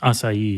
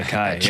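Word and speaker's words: açaí: I messed up too I used to say aai yeah and they're like that is not how you say it aai sounds better or it sounds closer to how it should be said yeah I agree does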